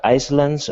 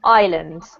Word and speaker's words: islands: you're doing really well this word here is actually pronounced with the silent s so it's pronounced islands ok yeah but apart